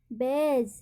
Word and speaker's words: badge: तो हमारा रूल कहता है कि डी के बाद तुरंत जी आए तो डी का उच्चारण नहीं किया जाता है।